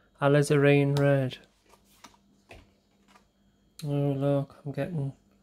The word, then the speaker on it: alizarin: like a crimson red alizarin red that's the way we pronounce it a lizareen red oh look i'm